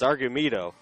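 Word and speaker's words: Argumedo: of the inning and I keep getting that name wrong I know Jonathan keeps looking at me afterwards it's argue me toe so it happens unto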